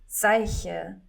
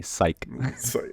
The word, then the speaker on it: Seiche: It's at, and then it's Seiche, which you pronounce Sieche. But most people don't. So we just say. Because it's very hard to pronounce. I was going to say the very American Midwest way, psych.